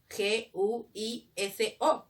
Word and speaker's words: guiso: G-U-I-S-O, guiso. Pero dime, ¿yo escucho la U en guiso? No, entonces no lo escribo.